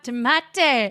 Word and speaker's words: Maite: By the way, we were not on YouTube Live when I first made the connection of the song "She's Maite," and that is the way you pronounce her name.